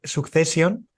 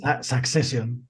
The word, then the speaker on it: Succession: porque la empecé ayer, Succession, que ya la habías comentado, Beliz. Succession, perdón. Succession. Perdón, pido disculpas. Es que estoy en una zona de España que se pronuncia así.